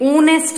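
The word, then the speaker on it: honest: आर है एच से, बट हम इनको कैसे प्रोनाउंस करते हैं, ऑनेस्ट बोलते हैं। एच जो है वो यहाँ साइलेंट होता है।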